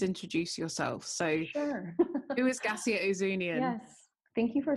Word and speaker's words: Gascia Ouzounian: So who is Gascia Ouzounian?